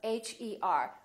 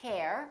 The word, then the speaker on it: her: in words like her h er we don't say hair we say her I love her I